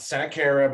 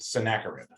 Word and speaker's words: Sennacherib: So the Assyrian king is named Sennacherib. It's not Sennacherib, it's just Sennacherib. His name is Sennacherib.